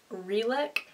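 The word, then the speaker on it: Relic: And then I got a belt and this is by the brand Reick.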